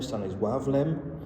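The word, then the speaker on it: Stanisław Lem: Um the book I am want to talk about briefly this morning is Solaris by Stannis Stanis Lavm Stanis Wavm. Uh I think is more the accurate pronunciation.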